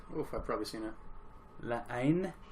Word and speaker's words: La Haine: La Haine, I believe is how you pronounce that.